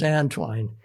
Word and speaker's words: Antoine: The And by the way, his name was An-twine. People say Anton, Antoine, but my grandpa called him An-twine, and if grandpa called him An-twine, that's it. And then I see on old census, they phonetically put it Antwine, so it's An-twine. Definitely.